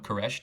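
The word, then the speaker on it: خورشت: They're both bisyllabic, koresht is just two syllables. You don't have to do the kh, just do the k, and you'll be referring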